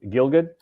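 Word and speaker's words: Gielgud: Jason Robart Christopher Walkin John how do you pronounce it? Gil Gilgood the from Arthur.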